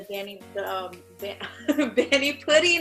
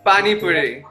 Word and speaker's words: Pani Puri: And the bani pudding, is that how you pronounce it, right? Pani Puri, yeah.